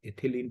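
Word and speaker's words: ethylene: और ये जो ये थोड़ा सा लिखा गलत है, इथाइलिन, इसको ऐसे लिख लेना, मैं यहाँ लिख दे रहा हूँ, इथिलीन पढ़ना है इसको, थोड़ा उच्चारण गलत है इसका यहाँ पर।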